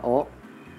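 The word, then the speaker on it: を: Nah, ada beberapa partikel dalam bahasa Jepang, yaitu ha atau dibacanya wa, ga, wo atau dibaca o, ni, de, to, he atau dibaca e, no, mo, kara, made, dan yori.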